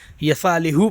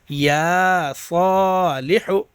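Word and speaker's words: يا صالح: میں پڑھاتا ہوں تو یا کو نہیں کھینچتے ہیں، یسا پڑھتے ہیں، اور ح پیش حو کو ہ پیش ہو پڑھتے ہیں، یصالح پڑھتے ہیں. تو یہ آپ کو نہیں پڑھنا، ٹھیک ہے. صحیح تلفظ کیا ہے؟ یا صالح، ہے نا.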